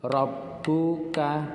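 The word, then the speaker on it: رَبُّكَ: dan membacanya ditekan Hai Robbuka dibaca ditekan dan dibaca satu ketukan Robbuka dop buka =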